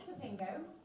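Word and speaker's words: Tapingo: to customers online, and how exactly is it pronounced? So you are correct, it is Topingo, so you got that right.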